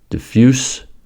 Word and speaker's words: diffuse: In the following examples, the adjective and verb form have the same spelling but differ in voicing. From s to z. Close, close. Diffuse, diffuse.